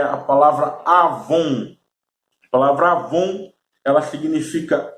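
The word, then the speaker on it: עָוֹן: Que é a palavra avon. A palavra avon, ela significa iniquidade. A pronúncia está aqui, ó, com W, tá? Avon com W, não é com V, não.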